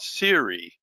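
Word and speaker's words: Seuri: There is one more that I picked up from Alabama A&M many years ago, and that was called Siri, and not the voice on your. This one is spelled S-E-U-R-I.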